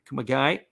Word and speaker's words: Kumagai: And easily making sure that he is there is Kumagi or Kumagi. You're going to have to work on that one there. Kumagai, looks like is how you say his name.